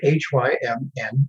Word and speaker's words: hymn: So now, what does the word H-Y-M-N, hymn, actually mean?